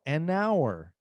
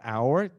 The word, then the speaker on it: hour: hour a hour não an hour an hour hour começa com H mas não pronunciamos o h então nós falamos an